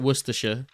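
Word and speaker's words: Worcestershire: It's you pronounce it worersha.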